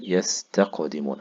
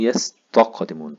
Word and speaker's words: يستقدمون: طيب عندي مثلا مثال زي يستقدمون. ما ينفعش اقول يستقدمون طاء، كده طلعت مني طاء، طلعت تاء مفخمة يعني طاء، وده مش صح.